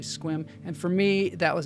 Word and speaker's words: Sequim: want to pronounce it sequim because it looks like sequim when you write it out but it's actually squim and for me that